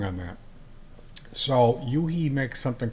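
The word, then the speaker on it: u-he: There's a company called Yuhi. At least that's how I pronounce it. It's a U, a hyphen, and then a H E. He. Like a capital U and then a little he. I call it Yuhi.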